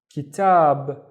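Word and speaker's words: كتاب: The first syllable is ki, and then tab, kitab, and kitab is a book.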